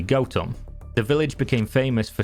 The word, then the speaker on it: Gotham: a small village called gotham the name gotham comes from old english goat home and the correct pronunciation is actually goatum the village became famous